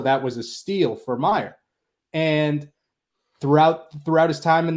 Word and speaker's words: Mayer: But the casual fans starting to notice him and pronounce his name wrong, which is a whole nother thing. But Mayer, everybody, not Yeah. Mayer.